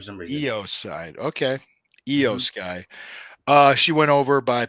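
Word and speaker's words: IYO SKY: me I never pronounce her name I is pronounced e sound for some reason EO side okay EO Sky uh she went over by pinfall to retain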